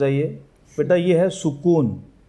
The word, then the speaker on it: سکون: اس میں سین پر بھی پیش ہے اور کاف پر بھی پیش ہے. ٹھیک ہے. اگر آپ اس کو زبر کے ساتھ پڑھیں گے تو وہ اس کا جو تلفظ کی جو ادائیگی ہے وہ اس میں غلطی کاؤنٹ ہو جائے گی.